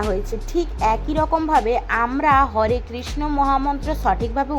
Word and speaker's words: হরে কৃষ্ণ: তো এরপরেও বলে দিচ্ছি হরে কৃষ্ণ নয় হরে কৃষ্ণ মহামন্ত্রটি হবে হরে কৃষ্ণ হরে কৃষ্ণ কৃষ্ণ কৃষ্ণ হরে হরে হরে রাম হরে রাম রাম রাম হরে হরে।